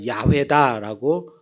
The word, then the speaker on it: 야훼: 아직도 완전한 이름이 아니라 다른 한편에서는 여호와가 아니라 야훼다라고 강력하게 주장하고 이 주장이 많이 받아들여지기 때문에 정확한 이름은 아직도 몰라요.